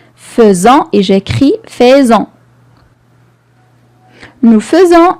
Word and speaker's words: faisons: on va mettre faisant toujours faison qui s'écrit faison mais je dois pas la lire comme ça c'est pas correct je lis faisant et j'écris fait nous